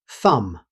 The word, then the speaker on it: thumb: The final B is never pronounced. Native speakers simply say thumb.